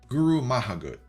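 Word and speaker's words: go raibh maith agat: This is a Kuk's pronunciation. To learn more for Guru Mahagut.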